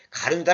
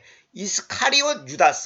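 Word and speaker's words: 유다 이스카리옷: " 가론 유다 " 는 정확 한 용어 가 아닙니다 . " 유다 이스카리 옷 " 을 정확 하게 발음 해야 합니다 .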